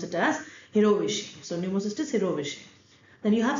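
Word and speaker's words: jirovecii: which primary infections pneumocystisy it's j-i-r-o-v-e-c-i but we pronounce it as hero wish so wish then you have cytomegalovirus tuberculosis histoplasma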